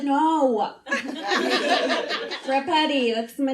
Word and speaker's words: Rapetti: Italian, and it's spelled Rapetti. My last name sounds like a pasta dish that always gets pushed on you, but no one really wants it. You're like, hold the sausage. I said, no. Rapetti, that's my name.